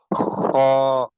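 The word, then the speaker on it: خ: Moving towards the next word, which is kha. Kha has to be pronounced from the top of the throat. This will has to be read pur. This is a full mouth word.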